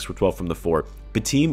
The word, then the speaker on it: Batum: Batum, or is it now Batum? They're saying that's actually how it's pronounced.